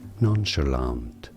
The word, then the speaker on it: nonchalant: In British English, it is said as nonchalant.